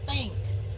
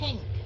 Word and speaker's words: think: Cái này mình sẽ đọc là think. Okay, chứ không phải là think. Đọc gần giống như chữ T tiếng Việt mà mình phải le lưỡi ra, mình đánh cái âm TH ra.